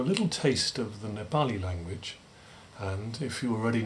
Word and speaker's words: Nepali: Now, note those pronunciations. Don't you mean Nepali? People sometimes say. Don't you mean Himalayan? No, I reply, it's Nepal, not Nepal, and Himalayan, not Himalayan.